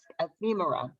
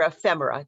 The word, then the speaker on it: Ephemera: And so the exhibition is called Mask Ephemera, or Ephemera, depending on if you pronounce it the Greek or the Roman way.